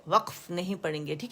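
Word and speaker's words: وقف: लेकिन जो अरबी में वाव है, काफ पे सुकून है, तो वहाँ पे कलकल है, वक़ वक़, एनफा सुकून के साथ वक़फ़, ठीक है.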